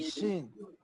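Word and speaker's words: سين: সিন। হ্যাঁ, সিন আর শিন আলাদা। একটা হচ্ছে সিন এস এর মতো, আর একটা হচ্ছে শিন। SH। এর পাশে এইচ দিলে যেরকম হবে, উচ্চারণটা সেরকম। জি।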